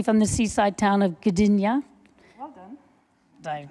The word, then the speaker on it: Gdynia: So Ula Pontikos, BSc, is actually from Poland, originally from the seaside town of Gdynia. Well done. Did I pronounce it correctly?